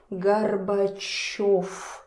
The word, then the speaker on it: Горбачёв: Here we have V, but try to say Gorbachev, Gorbachev. Again, it's difficult. So, in the end, it turns to F, Gorbachev, Gorbachev, Gorbachev.